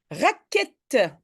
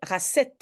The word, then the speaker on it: raquette: Oui, j'écris Q-U. Pourquoi? Bah, je pense que tu le sais parce que tu as sûrement une image visuelle, mais si maintenant j'écris ça, alors je dois prononcer racette, parce qu'il y a un E qui suit.